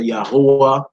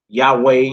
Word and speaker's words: Yahweh: Or some brothers say Yahuwah or Yahuwah, Yahweh.